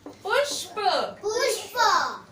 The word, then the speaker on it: पुष्प: प में उ की मात्रा पु, और यहाँ आधा षटकोण श है, तो यहाँ उच्चारण जल्दी करेंगे। और ये प, पुष्प।